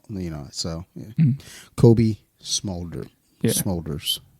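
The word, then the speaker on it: Smulders: know so Kobe smolder smolders like shoulders but with the m yeah so good for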